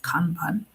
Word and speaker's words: Kanban: And in Bitrix, the term is used for a Kanban or it's actually pronounced Kanban.